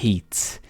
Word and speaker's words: hate: Se você colocar um E no final, vai ser hate. Ou seja, a gente está literalmente pronunciando o som do A neste caso. A gente está falando a letra em si, que é A. Hate. Se não tivesse E no final, hat.